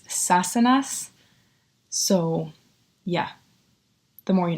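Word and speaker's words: Sassenach: Now that I'm watching the show, I know how to say it. It's Sassanas.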